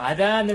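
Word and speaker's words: أذان: 그런데 이걸 한국에서는 이제 아잔이라고 하는데 원래 아랍어에서는 아단이라고 해요. 아단. 그래서 아단을 하는 사람은 무를 붙이면 되겠죠.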